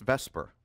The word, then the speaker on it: VSEPR: ways of looking at Vesper so that's how it's pronounced I was teasing before the quiz it's written VSEPR and pronounced Vesper which is not literally